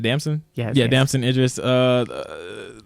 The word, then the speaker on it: Damson: hope I say his name right you said damson yeah damson interest uh like other actors like